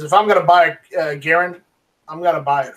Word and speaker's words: Garand: of his name, And he responded and says it's Garand, like errand, instead of Garand.